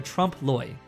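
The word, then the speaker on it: trompe-l'œil: to make a film that was like a trompe Lewis pause for a second I have to look up how to pronounce this he said he wanted to make a film that was like a trump LOI and from there we made the story of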